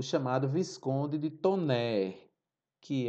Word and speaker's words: Taunay: Se escreve Taunay, mas se pronuncia Visconde de Tonnerre.